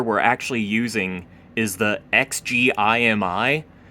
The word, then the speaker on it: XGIMI: And so, the projector we're actually using is the XGMI. I think it's actually pronounced XJimmy.